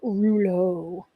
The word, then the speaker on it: rouleaux: is actually different than Rulo um and of course I love the e Au ux on the the French word Rulo um and this technique